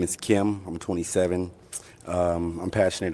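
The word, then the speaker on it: Kem: Maybe it's K E M but still pronounced Kim, which kind of kind of tough.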